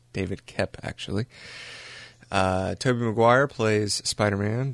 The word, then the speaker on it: Koepp: me he read that it's actually pronounced Kep, so we're going to say David Koepp, actually.